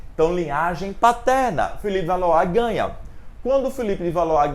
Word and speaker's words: Valois: Valois, é assim que se fala. Se escreve Valois, mas se fala Valois.